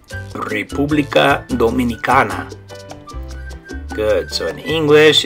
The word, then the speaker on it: República Dominicana: So in Spanish, you say República Dominicana.